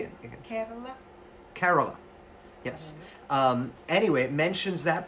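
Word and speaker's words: Kerala: Carola.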